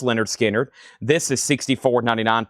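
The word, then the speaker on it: Lynyrd Skynyrd: Also pronounced Leonard Skinnard.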